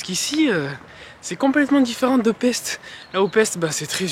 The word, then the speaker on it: Pest: Puisque là, ici, nous sommes du côté de Pest, qui se prononce aussi Pest.